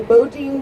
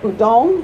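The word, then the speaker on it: Boudin: We're not 100% sure which one started first are the Bodin Bakery, which started with August Budong. He pronounced it budong. The locals say bodin.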